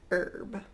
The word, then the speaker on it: herb: hear herb but in in North American English accent we usually say herb our ghost one more time honest herb our ghost the next